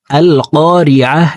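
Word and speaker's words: القارعة: হামজাহ লাম জবর আল, কফ আলিফ জবর ক, এখানে কা পড়া যাবে না। ক জিব্বার গোড়া তার বরাবর উপরের তালুর সঙ্গে লাগাইয়া কফ হরফকে উচ্চারণ করে পড়ব। আল ক, কফকে এক আলিফ টেনে পড়তে হবে, কারণ জবরের বাম পাশে খালি আলিফ, মদের হরফ ডান দিকের হরকতকে এক আলিফ টেনিয়া পড়িতে হয়।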